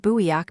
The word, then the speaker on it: 부엌: For example, the word buiyak, meaning kitchen, ends in an aspirated K letter, but is pronounced with a simple held K.